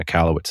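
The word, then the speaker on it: Michalowicz: plan by Mike michalowitz I think mccallowitz is how you say his name I've sent you an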